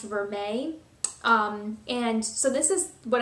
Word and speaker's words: vermeil: It looks like it says vermeil, but I think it's pronounced vermeil.